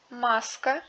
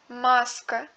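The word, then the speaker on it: маска: En russe, la voyelle accentuée du mot se prononce comme une voyelle double. Kassa, maska, tiema.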